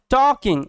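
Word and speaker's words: talking: হোটেলটার কাছাকাছি এন্ড এবং টকিং এখানে এল সাইলেন্ট ঠিক আছে এরকম ভাবে মাথায়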